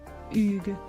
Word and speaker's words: Hugh: tentatives infructueuses ce dernier lui a finalement recommandé de le prononcer à la française Hugues c'est parfait a-t-il lâché